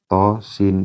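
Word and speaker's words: طس: Tosin.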